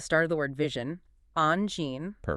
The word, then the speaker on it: Angine: So, based on our guides, it's Angine. All right, so you say on with a soft nasal sound.